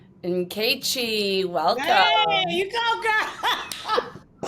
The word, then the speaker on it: Nkechi: It only took me an hour and 45 minutes to figure out how to properly pronounce the name. And she's like, just call me Keiichi. I'm like, no, Nkechi.